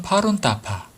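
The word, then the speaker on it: 法轮大法: 드디어 꿈결처럼 대법을 만났습니다 법륜대법 원 발음으로는 파룬따파 또는 파룬궁이라고도 하죠 그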